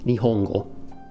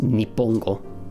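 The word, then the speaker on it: 日本語: And you know how that would be pronounced? Nihongo. It would not be pronounced Nippongo. Although, technically it could, almost nobody would ever say that.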